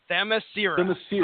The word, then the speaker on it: Themyscira: Why do I keep putting an I after the R? It's not there, Ronnie Adams. It's Themyscira. Okay. Themyscira.